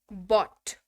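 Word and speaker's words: bought: खरीदा, बॉट। उच्चारण ध्यान दीजिएगा, बिकॉज ये उच्चारण जो है ना, ये मतलब कंफ्यूज करता है कई बार।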